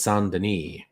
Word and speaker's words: Saint Denis: So it's pronounced the French way. So it's Saint Denis.